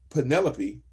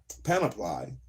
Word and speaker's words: panoply: McGee aimed for the Penelope, my bad, not Penelope, panoply, aimed for a panoply of evolution, panoply, I think I said it right the first time, a panoply, not a monopoly, a panoply.